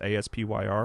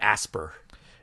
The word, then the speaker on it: Aspyr: what the developer Aspyr, I believe it's pronounced Aspyr. Is it Aspyr? I've always called it Asper. Yeah, which seems wrong, right? It does, but like it's spelled that way.